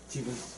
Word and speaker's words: 디귿: 그래서 이 뒤에 이가 붙든 을이 붙든 뭘로 발음을 하는 거예요?